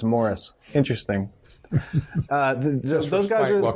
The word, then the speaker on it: Maurice: It's spelled Maurice, but he says it's Morris.